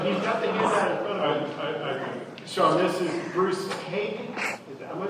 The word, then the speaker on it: Haig: Sean, this is Bruce Haig. Am I pronouncing that correctly?